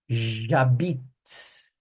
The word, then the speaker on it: J'habite: J'habite. J'habite. A frase vem até aqui, ó, até o T, a pronúncia, ó.